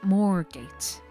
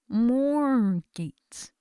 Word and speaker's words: Moorgate: tube I arrived at moorgate mall gates more gates you see the Africana in me wants to see more gates because that's how that spelling is pronounced so yes I got